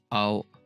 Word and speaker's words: 青: に、 These are this is pronounced as ao, means blue, ao, 青、 like this.